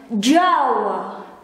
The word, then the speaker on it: Jawa: It pronounced as Jawa, Jawa, Jawa, Jawa.